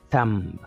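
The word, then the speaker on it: thumb: لکه تم تمب تمب، دلته وګورئ تم ویل کېږي، بي نه ویل کېږي.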